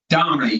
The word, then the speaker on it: Domini: pronouncing your last name correct? Is Domini? Dominey, correct.